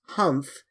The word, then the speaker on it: humph: "Humph," said the sand fairy. "If you read this story aloud, please pronounce humph exactly as it is spelt, for that is how he said it."